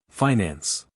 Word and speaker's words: finance: advantage of the manager the pronunciation of this word with the eye long and the accent on the first syllable is one of America's